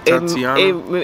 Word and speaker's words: Tatiana: Tatiana. It rhymes with Iara. Tiara.